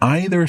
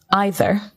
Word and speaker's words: either: So what I noticed here was you, Mark, you pronounced the word either, as you did. Mm-hmm. Naturally, I would pronounce this word either. Okay. And that's absolutely fine. Some people say either, some people say either. It's like the song. You say either, I say either, let's call the whole thing off.